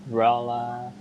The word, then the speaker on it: relatives: so it makes a difference where you put the accent. Relatives, okay? Oh, boys, my machine is fooling me here. Tivs. Yeah, relatives. Yeah, so the accent, the emphasis on the first syllable.